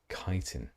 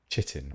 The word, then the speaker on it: chitin: I always pronounced it chitin or chitin or something like that. When I first realized it was chitin, it took me a long time to reset my brain.